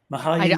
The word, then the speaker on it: Mihaly: Mihaly I don't know personally.